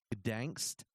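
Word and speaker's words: Gdańsk: He was 17 years old when he began serving at the Soothof concentration camp near Gdansk or something like that. You don't pronounce the G; it's just Donsk.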